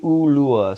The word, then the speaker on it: Ulua: And to pronounce it, it's I always tell people it's like baby, Ulua. So the pronunciation of the vowels in Hawaiian culture, once